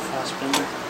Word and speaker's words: Fassbinder: I love Fassbinder. I don't even pronounce his name right. That just shows you it's Bender. It's not Binder.